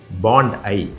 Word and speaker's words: Bondi: இத பாண்டின்னு சொல்லுவாங்க. அது தவறு ஆஸ்திரேலியாவுல இதனுடைய உச்சரிப்பு பெயர் எல்லாமே பாண்ட் ஐ பஓன்டி பாண்ட் ஐ போண்டி கிடையாது அல்லது பாண்டிங் கிடையாது. இந்த பீச்ல நேற்று கிட்டத்தட்ட ஆயிரத்திற்கு மேற்பட்ட யூதர்கள் வந்து தங்களுடைய திருவிழாவை கொண்டாடுவதற்காக வந்தாங்க.